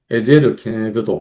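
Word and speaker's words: עזר כנגדו: 그냥 케네그도, 에제르 케네그도 이렇게 뭐 발음이 어려운데 이거 외울 필요는 없고 그냥 뭐 듣기만 하면 되시겠는데, 여기서 케네그도란 뜻이 그와 마주하다, 대응하다, 대면하다, 이런 뜻이래요.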